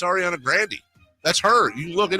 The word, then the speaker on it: Grande: the bit where you tell us we're all pronouncing Ariana Grande wrong it's her bit she says it's Ariana Grandy that's her you look it up she says